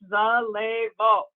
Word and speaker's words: Zallevo: you, it took me a little while to pronounce it, but it's Zallevo.